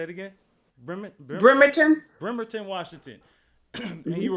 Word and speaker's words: Bremerton: Bremerton. Say it again. Bremerton.